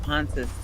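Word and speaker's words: Pontus: I found pontis too now, but it's spelled P O N T U S and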